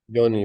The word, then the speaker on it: Yoni: It's Yoni how you pronounce it? Yoni, perfect.